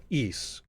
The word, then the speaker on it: Ys: intersects so talk about eise please okay yeah let's talk about east a little bit so eise or which is spelled ys i'll type it in